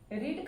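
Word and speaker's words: read: एंड रीड का तीनों form friends same होता है, लिखने में तो सेम होता है, लेकिन प्रोनाउंसिएशन हम इसका अलग करते हैं। रीड, रेड, रेड, यानी इसका सेकेंड फॉर्म और थर्ड फॉर्म रेड, रेड कहलाता है।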